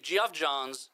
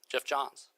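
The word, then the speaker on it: Geoff Johns: If Jeff Johns, I think is actually how you say it. Geoff. It's spelled Geoff. I think it's Jeff Johns.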